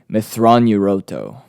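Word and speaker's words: Mitth'raw'nuruodo: so grand admiral thrawn's real name is actually methron yuroto which is spelled now bear with me m-i-t-t-h apostrophe r-a-w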